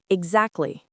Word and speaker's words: exactly: I bet most of the time when I say it, I don't pronounce the T. I say exactly or I must go.